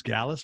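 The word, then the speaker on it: Gaalaas: How do you pronounce it? It's Gallus.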